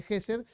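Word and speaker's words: חסד: Lo importante es que nos acordemos que hay una palabra, en este caso se pronuncia aproximadamente Gesed, que es la palabra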